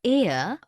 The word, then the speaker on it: heir: Because the words heir, honest and hour begin with a vowel sound, as the initial consonant H is not pronounced.